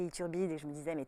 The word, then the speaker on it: Ithurbide: même voulu en changer tellement personne n'arrive à prononcer Ithurbide et je me disais mais tout le monde se fout de moi il turbine grosbille c'était chiant quand j'étais petite mais j'ai